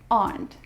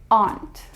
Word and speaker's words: aren't: isn't or and it's aren't now in British accent it sounds the same as aunt your mother or father's sister but in my accent in American accent we pronounce the r aren't aren't we are laughing